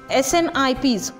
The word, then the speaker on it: SNPs: SNPs, the single nucleotide polymorphism, that is the pronounced as a SNIPs, occurs in the human.